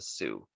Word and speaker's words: Sioux: to a community of indigenous people called the sioux that's how it's pronounced is sue and then they found gold